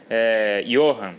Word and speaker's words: Ioran: Johan, né? O nome dele se escreve Ioran, mas é o Johan.